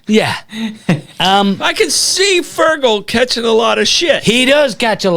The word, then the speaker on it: Fergal: connection to television license because my younger brother fergal is a television licensed inspector in Ireland okay let's not just skip over that what's your younger brother's name fergal say it one more time fergal spell it now f e r g a l